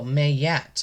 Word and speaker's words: Maat: 88 M Master number Ma Maat pronounced oh mayette okay mayette is an ancient